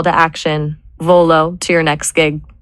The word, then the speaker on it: Volo: What about V O L O V O L dot? It's two syllables. It sounds like volunteer or velocity.